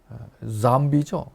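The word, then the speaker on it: zombie: 잠비죠. 이게 이제 Z니까 발음이 잠비가 돼요. 이제 한국말로는 좀비지만 영어로는 잠비 바이러스가 되는 거예요.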